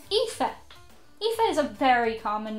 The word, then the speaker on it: Aoife: and been like, what, when you saw how it's spelt. It's Aoife.